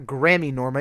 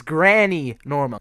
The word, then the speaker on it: Grammy Norma: girl I'm gramy Norma that's actually not how you pronounce her name it's not Grammy Norma it's Granny Norma go look it up